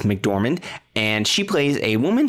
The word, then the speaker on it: McDormand: zhao nomadland stars francis mcdermott er rick dorman i always pronounce her name wrong my francis mcdormand and she plays a